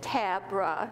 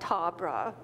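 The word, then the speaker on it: Tabrah: buddhism ruth tabra and she pronounced it tabra not tahrbrah became a jodo shinshu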